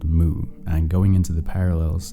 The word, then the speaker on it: MW: an obscure manga called moo and going into the parallels it shares with noi rabas monster and yeah I know it's spelled MW but Wikipedia says the pronunciation is Moo so I don't know what